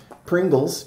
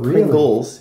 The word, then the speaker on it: Pringles: Pringles. Pringles has been a sponsor before. Yeah. I actually pronounced it Pringle, and I got in trouble for that. So, Pringles.